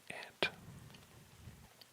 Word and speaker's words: aunt: First up is ant, and that is A-U-N-T. A lot of people pronounce it aunt, just fine, but in my part of the world, most people say ant.